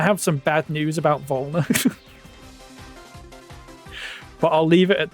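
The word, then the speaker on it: Werner: Adam, we want Walner. Wner, sorry, pronounce his name wrong. Have you only been watching the Tik Toks, Adam? Cuz I have some bad news about Vulner.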